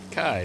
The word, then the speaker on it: Kai: Kai rhymes with die.